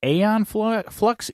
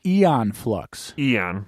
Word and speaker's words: Aeon Flux: Did I say it wrong in the intro, Patrick? Aeon Flux? Eon Flux.